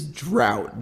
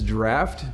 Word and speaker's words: Draught: I'm always confused because based off of the spelling I would say it's Guinness drought but that doesn't make any sense to me so I imagine it's the Guinness Draught Stout I mean it's spelt